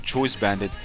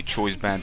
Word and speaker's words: Choice Band: without a doubt a Choice Bandit set. Do we say Choice Band? I was so used to saying Choice Bandit, while I should pronounce it Choice Band.